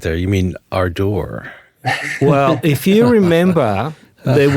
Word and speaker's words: Ardour: Well, as the English person in the room, I guess I would also say Ardor. Oh, no, I say Arda.